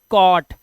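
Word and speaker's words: caught: हैं बट सिर्फ बट इसे पढ़ेंगे कॉट क घट नहीं बोलेंगे कॉ फट नहीं बोलेंगे ना ये घय ना फाए ये साइलेंट है इसे पढ़ेंगे कॉट और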